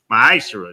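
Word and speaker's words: מעשר: Means 10th in the Hebrew, and it's pronounced ma'ashera.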